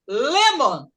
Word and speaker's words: lemon: Então, se você tem a palavra lemon, é um substantivo, é um nome. E como falei para vocês, a primeira sílaba que é a que pronuncia com mais forte.